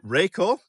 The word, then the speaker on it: Reiko: Now, Ri Reiko or Reiko, I've been saying Rico all day. I just I said, "Why didn't you tell me? I've been saying your name wrong all day.